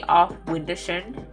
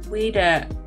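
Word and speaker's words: Auf Wiedersehen: I'd be forced to say off Windershin. To say to a simple case. What does that mean? Off Windershin. I don't even know if that's the correct pronunciation. Wiedersehen.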